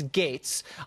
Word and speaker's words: Gaetz: is kind of ridiculous it's GA etz it's pronounced gates but no one knows how to say that I'll tell them it's gates I wanted to rattle